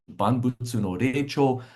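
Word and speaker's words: 万物の霊長: The Japanese pronunciation, Banbutsu no Reicho.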